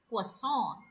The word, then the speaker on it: croissant: Right pronunciation for this word is croissant.